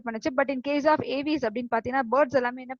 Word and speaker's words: Aves: And coming to the next one இஸ் த ஏவிஸ். ஸோ you should pronounce this ஆஸ் ஏவிஸ். இது வந்து எப்படி pronounce பண்ணணும் அப்படின்னு பாத்தீங்கன்னா ஏவிஸ் தான் ப்ரொனவுன்ஸ் பண்ணணும், ஏவ்ஸ் கிடையாது.